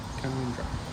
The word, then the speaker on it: Canowindra: Canowindra.